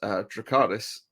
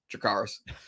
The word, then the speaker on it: Dracarys: way Daenerys says it, she'll say it like us, Dracarys, but like the way that Rhaenyra says it with like this like Dracarys, it's like this weird kind of like Valerian accent on top of it, which makes